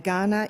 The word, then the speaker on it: Kaurna: we're gathered on today, Kaurna country, the Kaurna people, spelt with a K but pronounced with a G.